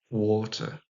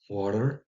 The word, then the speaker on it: water: Alors attention, en anglais RP, donc, ou Queen's English, donc l'anglais d'Angleterre, si vous voulez, le standard English, l'anglais standard, on prononce water, water, hein. Si vous entendez autre chose, genre water, ça, avec un D en plus et un A, c'est plutôt côté anglais des États-Unis et moi, je vous